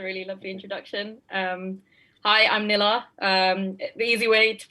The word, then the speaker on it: Nila: Hi, I'm Nila. The easy way to pronounce it is like vanilla. That's how I tell everyone. So it's like vanilla, but without the va. So it's just Nila, which means moon in Tamil.